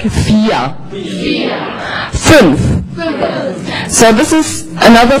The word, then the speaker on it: vier: And here you have the long vowel, and you can pronounce this like vier.